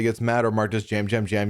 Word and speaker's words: Yam Yam: He said jam jam. Although a lot of people, even like people I've seen in the just on TikTok and stuff call him Yam Yam.